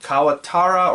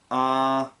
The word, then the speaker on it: Katawara: I keep mixing up the syllables for it. Is it Kawatara or Katawara? Hold on, let me look it up. Hold on. I'm not going to look it up quickly enough. But, Katawara, there it is. I always mix up the syllables in that word for some reason.